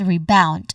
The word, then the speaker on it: rebound: When it comes to pronunciation, there's two syllables. First is re. This is a short unstressed re sound like in return. So, there's a short vowel sound here and followed by bound, which is the stressed syllable. There's a clear dip thong sound here.